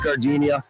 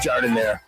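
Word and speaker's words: giardiniera: Hey guys, when you're at the counter, don't call it Gardinia. It's pronounced jar in there.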